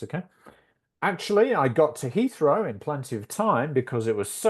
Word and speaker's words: Heathrow: It's a h sound. Heathrow.